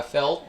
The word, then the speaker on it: felt: 또 felt에서 T 발음 빼는 거 대신에 강세만 조금 더 강하게 I felt so happy.